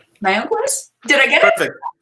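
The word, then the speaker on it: Mayagüez: You may have to help me pronounce this, Goñi. Mayaguez? Mayaguez?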